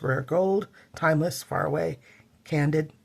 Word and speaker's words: Candid: Gold, Timeless, Far Away, Candid. I always wanted to call it Candide because that's how my mom pronounced it.